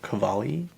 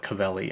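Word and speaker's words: Cavalli: Um, Skiims has has partnered with Roberto Cavali. Someone call it call it Cavelli. I'm like, why why would you say it that way? Like, that's not even how you say it. It's Cavali.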